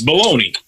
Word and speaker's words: Bologna: No, it's baloney.